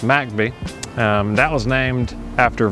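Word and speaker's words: McBee: we just crossed over MCB which forly is pronounced macby um that was named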